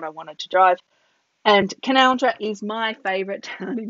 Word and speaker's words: Canowindra: Well, Gulgong's pretty cool too, but Canowindra has the best main street for sure. So this is the name of the town. It's written Canowindra, but you pronounce it Canowindra.